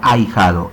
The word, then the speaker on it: ahijado: A ver, notemos que al ser pronunciada la palabra ahijado en esa sílaba ay, nada más suena la A con la I. Eso quiere decir que la letra H que está en medio de las dos no tiene sonido. Y entonces, a pesar de